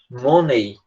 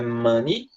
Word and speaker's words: money: gente escreve dinheiro assim a gente muitas vezes tende a pronunciar roney né igual macaco monkey money mas é a mesma coisa dinheiro é mani e macaco é lanche